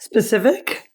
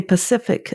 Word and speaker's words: specific: s is for specific did I say it right specific yeah I can't I often say Pacific or can't anyway you'll